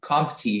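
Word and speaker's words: coontie: The roots and half-buried stems of compty yield an arrowroot. Can you please repeat the word? Compty. Compty? Compty. Compty. Are there any alternate pronunciations? There is just the one compty.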